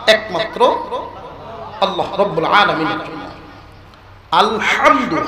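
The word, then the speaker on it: الحمد: আলহামদু, হা গলার ভিতর থেকে আওয়াজটা উচ্চারণ করতে পারলে আলহামদু হয়, সকল প্রশংসা যার অর্থ।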